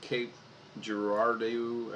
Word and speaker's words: Cape Girardeau: Now I'm looking down at the Cape Girardeau, I believe is how you say it, in Missouri.